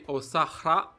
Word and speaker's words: Osahra: Well, the difference is because in my language, the H letter, it is pronounced very well. And that's why we say Osahra.